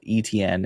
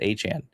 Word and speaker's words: Etienne: And if you're confused who talking about, he used to be called ETN and he corrected everyone this offseason. It is Achan. That is how you pronounce his name.